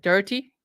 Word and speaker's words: Daugherty: the surname correctly so that is how you spell it d-a-u-g-h-e-r-t-y Sean s e a n okay so hashtag Sean uh dirty is that you could even say hashtag Virginia